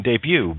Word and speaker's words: debut: clue isle or debris t is silent in debut ballet in oh look at